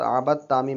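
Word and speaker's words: عبدتم: बा ता ज़बर बत आबत तामी पेश तुम पढ़ेंगे दाल को साइलेंट कर देंगे बा को ता में मिला देंगे तो इस तरह से पढ़ने में आएगा आबत तुम कुरान शरीफ में ऐसे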